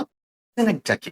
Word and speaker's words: synecdoche: में, पर इस तरीके से वहां पर जो उच्चारण है वो आप पढ़ेंगे आपका सेनेक्टकी।